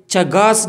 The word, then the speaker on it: Chagas: या हमारे पास ये चगास डिजीज़ है या चेगस डिजीज़, जिस आप प्रोनाउंसिएशन कर लें, ये इन्फेक्शियस डिजीज़ है साउथ अमेरिका।